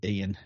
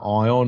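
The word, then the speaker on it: Eion: Yeah, it's Eon, but you say Ian. Like Eon Crossing. Remember when Eon Crossing was playing? Everyone was trying to all the commentators were trying to say his name was either Ion or Eon. Yeah. See, we're cultured, so we knew it was Ian straight away.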